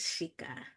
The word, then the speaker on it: Shika: Um just anything good is with this person and it is Shika. Buu, am I pronouncing your name correctly?